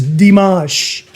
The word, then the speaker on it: Dimash: Thank you for correcting me on the pronunciation. It's Dimash and it's called Ava Marie.